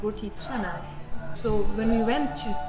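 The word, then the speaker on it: roti canai: looks like it's pronounced roti but it's actually pronounced roti chana so when we went to singapore we actually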